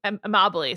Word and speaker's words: Amabile: Joe Amabile, I think Amabile, sorry, that's how you say it.